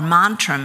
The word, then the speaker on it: mantram: Okay, let's move on to mantra, or mantram as it's pronounced in the southern province of Kerala in the Indian dialect.